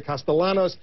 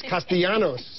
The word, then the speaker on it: Castellanos: the Republican strategist Alex castanos he's the co-founder of purple strategies of bipartisan Communications firm I know a lot of folks like to say castalanos it's castanos is that correct exactly especially when we're